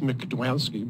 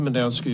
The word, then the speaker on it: Mednansky: Mednansky. The man with two last names. Yes, almost. I've even had it pronounced McDwansky, believe it or not. Okay. Even though it's M-E-D-N-A-N-S-K-Y. My name is Mendansky, as your attorney mentioned.